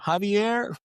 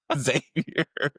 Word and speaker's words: Xavier: I mean, they say my name wrong all the time. Javier? No. It's clearly, I'm black. Just Xavier.